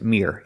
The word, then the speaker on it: mere: these two words Mir the first word is mirr it's one syllable and the second word